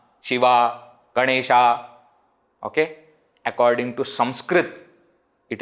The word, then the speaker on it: Ganesha: is like that again in Hindi Etc they don't pronounce the last akara completely Ram isn't it Ganesh but in Sanskrit when we are talking we should say Rama Ganesha okay in other languages